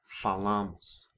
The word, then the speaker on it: falamos: in the present tense, the stress falls on the second to last syllable. So it's falo, fala, falamos, falam. Also note that the final vowels of the eu, você, and third person singular forms are weakened to the u and a sound because they're unstressed.